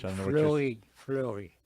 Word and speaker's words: Fleuri: Fleury. How do you spell that? F-L-E-U-R-I. Oh, fleurie, like a flower in French.